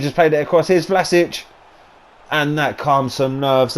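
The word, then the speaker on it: Vlašić: from the edge of the area but here's vlasis flatters it can't even say his name properly vlasic is his that's his goal there and we're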